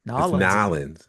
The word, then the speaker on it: New Orleans: It's New Orleans. Nollins.